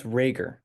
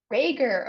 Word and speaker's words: Rager: your last name Curtis it's rager with a hard G rager okay I thought rager